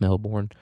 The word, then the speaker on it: Melbourne: Um, there's another newspaper called the Melbourne Boomerang, or as Australians would say, Melbourne, but there's an R in there. Let's say the R. It's pronounced Melbourne.